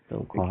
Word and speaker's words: Delacroix: Like I said, the Professor, previous Pauper winner, and one of the other streamers, Delacroix. Yeah, How to pronounce that? Yeah, Delacroix, I think. Delacroix.